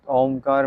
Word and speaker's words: ओम: क्योंकि जब आप ओंकार मंत्र के उच्चारण में ओ को लंबा ऐसे बोलते हैं तो आपके मस्तिष्क जो आपका ब्रेन है आपके ब्रेन सेल एक्टिवेट होते हैं।